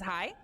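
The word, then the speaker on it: hai: Because the word there in Japanese is hi, which means yes. But, you know, that's one syllable. It's very fast. It comes out extremely fast.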